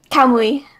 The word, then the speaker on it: Kamui: How do you pronounce it? Kamui.